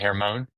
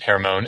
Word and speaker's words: Hermon: I I don't Mount Hermone. H E R M O N spelled like Herman.